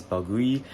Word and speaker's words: balgooyi: Uh, this plant is called like anopteras baloui. I just had to double check the pronunciation real quick and it is balui.